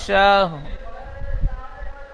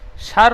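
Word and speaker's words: شَهْر: খয়রুম মিন আলফি শার সার নয়, শাহ। শাহ হ্যাঁ, শাহ। শাহ লাস্টে র যেমন উচ্চারণ করতে গেলে মুখটা গোল হয়, ঠোঁট দুটি, ঠিক ওই রকম ঠোঁট দুটি রর আকৃতি আনবেন।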